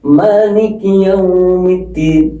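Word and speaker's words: مالك يوم الدين: Ada yang e maliki yaumiddin ma ada yang pendek ada yang panjang. Ini mananya panjang.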